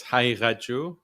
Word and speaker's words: Haqiqatjou: all so we know sure it's hauu so the one of the letters are is specific to Arabic and Persian so it's difficult for non-persian or Arabic speakers to pronounce it but you did a